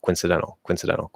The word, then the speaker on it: coincidental: Like we're not going to notice that you're dropping the O. Like even me saying it, like I'm trying to completely remove the O and it sounds like a perfectly pronounced word. I say coincidental. It sounds like I'm saying coincidental, just faster, even though I'm not saying the O anymore.